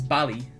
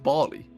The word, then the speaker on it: Bali: First one is Bali. Oh mate, hang on. I swear it's pronounced Bali.